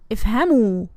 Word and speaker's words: افهموا: أنتم افهموا. أنتن افهمن. And remember, with أنتم افهموا, this واو الجماعة, we must add ألف. This is silent, but we must add it. It's not pronounced, it's just written.